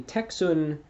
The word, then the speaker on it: Tecsun: And well, my personal recommendation, at least in terms of affordable wise, is the Texun PL660 radio. Now it's it's spelled Tecsun, Texun PL660, and it's in my opinion anyway, it's a good radio.